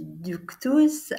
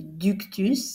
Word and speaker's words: ductus: Un autre inconvénient du ductus, à mon avis, ou du ductus, si on le prononce à la française, c'est de présenter les lettres sous forme alphabétique alors qu'elles n'ont pas les mêmes caractéristiques.